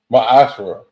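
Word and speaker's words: מעשר: You can find this in numbers 18 and 21 and Malachi 3 8-10 chapters 8-10 which means 10th in Hebrew and is not is pronounced masher 10% of every penny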